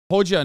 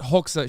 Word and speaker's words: Hoxha: Hoja, not Hoxha.